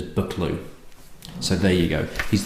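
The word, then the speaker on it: Buccleuch: do but okay bucklew although I've always pronounced this bucklew as in lock or back Dorothy up cheers told me that the Duke himself pronounces it as bucklew so there you go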